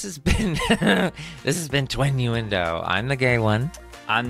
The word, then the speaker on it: Twinnuendo: point so this has been this has been twin uendo I'm the gay one I'm not is that